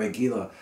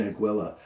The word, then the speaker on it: Aguila: And you'll hear people pronounce it, but when I went to the store asking for Aguila, the guy said, you mean Aguila.